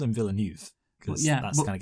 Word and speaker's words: Villeneuve: I as a habit say his name wrong, and I refuse to change. No, I've always said Villeneuve because, of course, my F1 knowledge allows me to get his name right.